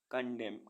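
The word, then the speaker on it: condemn: पतझड़ सी ओ एन डी ई एम एन कंडेम कंडेम मीस निंदा करना डी ए एम एन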